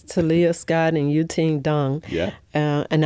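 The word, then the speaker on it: Deng: Tia Scott and you team Dung. Yeah. Uh and I know it's spelled D E N G, but it's pronounced Dunk.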